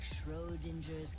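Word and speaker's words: Schrödinger: Deo you too saved me it's just like sher's cat that's how you say it I've been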